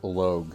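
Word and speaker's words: Loog: It's pronounced Logue, thank you.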